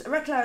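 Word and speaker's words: Reklau: And Mark Recklow is the author. And actually, I've picked up a few of his books lately. They're excellent. It's Recklow is pronounced, or spelled R-E-K-L-A-U.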